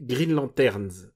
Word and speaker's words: Green Lanterns: Et ma surprise, c'est Green Lanterns. Et alors, je prononce bien Lanterns à la fin.